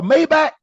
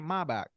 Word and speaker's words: Maybach: The way the Germans, the engineers, and the way the Mercedes, they pronounce it Maybach.